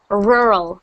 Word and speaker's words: rural: in the country and it means and you pronounce it rural it's a very strange word rural rural rural